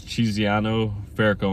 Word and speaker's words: Chiziano Fairco: know my full name so my full name is chiziano fairco so it's cheeziano fairco and i'll spell it